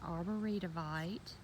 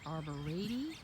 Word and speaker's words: arborvitae: So as you can see, I have a row of, now we say arboretivite. Miss Joyce in Utah says arborvitae, I believe, but we're Southern, so we get as many syllables in there as we can.